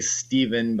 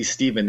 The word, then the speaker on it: Stephen: right side, because so many people, when they see Stephen, they pronounce it wrong. And I'm like, really? You've never heard of Stephen King? You say his name right. Yeah, you never heard of Neal Stephenson from Cryptonomicon? So, all right, well, we can agree to disagree, but agree that the V is, just phonetically easier.